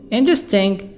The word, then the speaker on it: interesting: Interesting. E silent. خلي بالنا الE بعد حرف T هنا silent. مش بتنطق.